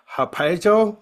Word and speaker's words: Harpazo: It's called Harpazo. That's how it's pronounced.